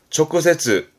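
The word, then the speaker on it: 直接: 초크세츠, 음으로는 초크세츠.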